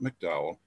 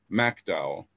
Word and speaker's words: McDowell: the southern coal fields kanawha that's how it's pronounced you folks from out of state kanan fayette raleigh mercer mcdowell not mcdowell mcdowell and logan those were harmed to the far